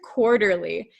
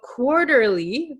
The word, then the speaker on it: quarterly: quarterly quarterly do you guys know this word quarterly and if you'll notice quarterly this te is